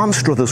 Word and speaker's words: Anstruther: Now, Anstruther's one of those places where you can pronounce the town name in different ways. Anstruther is its Sunday name. It's the English pronunciation. If you're a local, and we're in Scotland after all, a lot of people call it Ainster. Ainster, that's the Scots pronunciation of Anstruther.